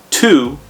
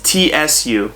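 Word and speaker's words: つ: like cheese next is it's not tu it's tsu kind of like tsunami and we don't have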